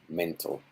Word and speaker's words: mental: next one mental yeah mental those consonants who are in answer syllables tend to disappear you could even hear this being pronounced like mental like it doesn't exist mental uh again with